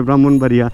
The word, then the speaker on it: ব্রাহ্মণবাড়িয়া: কিন্তু বলতে হবে পদ্মা বানান দেখা যাবে ব্রাক্ষণ বাড়িয়া বা ব্রহ্মপুত্র বা ব্রাক্ষণ কিন্তু বলতে হবে ব্রাহ্মণবাড়িয়া এই ধরনের ব্যাপারগুলো আমি